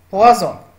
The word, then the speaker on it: poison: Exemple, poisson, poison. Comme vous voyez ici, la lettre S et la lettre, ça se prononce Z.